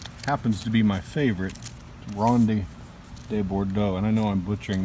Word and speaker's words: Ronde de Bordeaux: Ronde de Bordeaux. All right, so that's how you pronounce it.